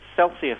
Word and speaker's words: Celsias: Is Celsius. It's spelt like a spelling mistake.